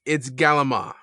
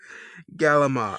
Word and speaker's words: calamari: Do they make you pronounce calamari? And if you pronounce it a certain way, are they like, no, sir, I'm sorry. No. You clearly are not from a flat state. It's Galama. Galama. Don't ask me how that happened.